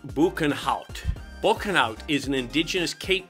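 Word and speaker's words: Boekenhout: name means Ravine of the banout pronounced banout banout is an indigenous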